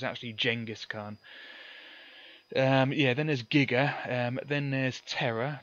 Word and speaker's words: giga: Then there's mega for million. Then there's giga, or jigger, as it was originally intended to be pronounced. And they pronounce it correctly on Back to the Future when he says gigawatts.